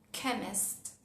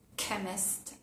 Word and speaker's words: chemist: Por ejemplo, en las palabras chemist, chemist, o en la palabra ache, ache.